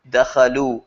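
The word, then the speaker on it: دخلوا: When the pronoun's gone, you write the alif. It just has a cool style. You just write it and don't worry about why it's there. Dakhalu, don't pronounce it.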